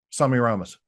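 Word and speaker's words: Semiramis: Do you say Samirus or Semi Ramas? Sami Ramos.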